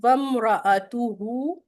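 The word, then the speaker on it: وامرأته: आज कुछ गड़बड़ उसमें अक्सर लोग इस आयत मुबारका में इसको बहुत गलत प्रोनाउंस करते हैं। वम रातुहु या वम रातु अगर आप यहां पर वक्फी कर रहे हैं तो वम रातु हमलतल हतब या वम रातहु हमतल हतब तो इसकी जो है वो करेक्शन कर लीजिएगा।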